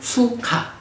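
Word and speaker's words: sukha: 요거는 받침이 없이 그냥 수카. 두카, 수카 이런 차이가 있어요.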